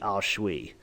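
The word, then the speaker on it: aos sí: spiritually and she mentioned this thing called the ashui and I was like what the how what um it's spelled a-o-s-s-i it's pronounced the ausshui I thought this was really cool she said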